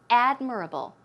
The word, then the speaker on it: admirable: a look at this it's admirable not admire about the stress goes right there on the first syllable so it's admirable admirable